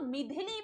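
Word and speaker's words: Michaung: अगला आता है चक्रवात मिडिली, इसको मिथिली भी आप देख सकते हैं, इसका कहीं कहीं प्रोनाउंसिएशन मिथिली भी मिला है।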